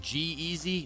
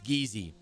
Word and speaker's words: Geezy: It's not said like G-Easy. No, it's Geezy. Because listen, there's another player who was in the tournament earlier who is spelled the same way, G-E-E-Z-Y. And he goes by Jeezy. And this is G-E-E-Z-Y, but he goes by Geezy.